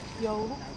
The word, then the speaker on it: joulu: Joulu.